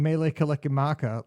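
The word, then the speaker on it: Mele Kalikimaka: Uh she says, "You have to sing Melee Kimaka like the Bing Crosby song. It's the only way to pronounce it right."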